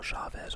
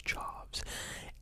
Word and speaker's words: Chaves: Then he did The Nun 2, Michael Chavez, or Chaves, I don't know how to pronounce the last name, I think it's Chaves.